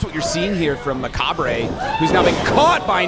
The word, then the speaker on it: Macabre: been for young macabre glad you're here because i would have pronounced that my cop 100 of the time yeah it looks like